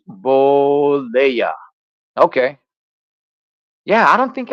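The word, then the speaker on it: Bollea: it's Hulk Hogan man is pronounced boa okay yeah I don't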